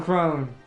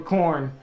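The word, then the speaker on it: Khorne: The 2 you don't want is Nurgle and Crone. Or Korn, technically, I think is how it's pronounced.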